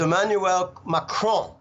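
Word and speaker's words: Emmanuel Macron: So the way you pronounce it is Emanuel Macron.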